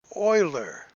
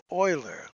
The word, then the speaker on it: Euler: but it's e o that in german is pronounced as an o so euler euler leonard euler a famous mathematician who developed the